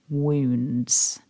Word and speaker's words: wounds: of this word wounds looking at the vowels written down it could trick you into thinking the pronunciation is different but here it's the plural noun wounds so repeat after me